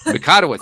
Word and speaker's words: Mikotowicz: I should have asked for the pronunciation before I got going here, but I'm going to try it. Mikotowicz.